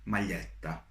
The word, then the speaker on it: maglietta: And when you have letters GLI, GLI, you pronounce it as L, L, L. For example, in a word maglietta, which is a shirt.